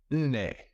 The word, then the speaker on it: Nne: Nne. That's it. I got it. My baby gave me that. Yes, inne. N-N-E. Nah. Anyway, that's how you say four.